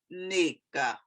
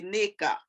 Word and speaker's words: Nneka: here about this um it's actually nica now when i hear nigerians pronounce it it's the most beautiful thing they they emphasize the first part of the word to it it's nica